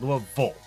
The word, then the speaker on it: Louisville: Those are all pronounced Ville, to my knowledge, by Kentuckians. But no, it's Louisville. Yeah.